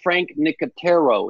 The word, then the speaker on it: Frank Nicotero: Rachel, it's pronounced Frank Nicotero.